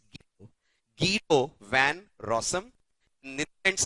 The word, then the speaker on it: Guido: His name is not pronounced as Guido, it's Guido.